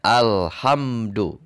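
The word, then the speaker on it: الحمد: maka ketika diawal bacaan harus dibaca dengan harakat fathah maka dibaca nya inilah alif lam tarif ya maka dibacanya al-khaththath Fatah dibacanya al-hamdu jadi Berikutnya ini pun Hai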